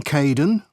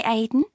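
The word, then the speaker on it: Kaeden: Hello Charlotte, I'm Kaden, one of the supervisors. Welcome to the team. Hi Aiden.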